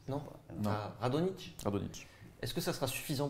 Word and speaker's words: Radonjić: On ne prononce pas le J. Non. Radonjić.